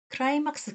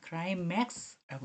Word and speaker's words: 클라이맥스: 나서는 절정 한국어로는 그런데요 우리 클라이막스 클라이막스가 뭐냐 하고 막 이렇게 얘기했잖아요 클라이맥스라고 읽습니다이 이야기는 가장 중요한 순간이기도